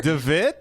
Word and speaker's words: De Witt: De Witt? De Witt is how you pronounce it in Dutch.